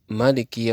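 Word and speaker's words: ملك: orang yang membaca al-quran membaca Maliki yaumiddin dengan meniadakan Alif setelah huruf mim sementara sebagian qura lainnya membacanya dengan menggunakan Alif setelah mim sehingga menjadi Maliki kedua bacaan itu adalah benar dan Mutawatir dalam qiraat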